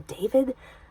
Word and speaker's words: David: of these days I I love to give it the Spanish pronunciation so David the d e i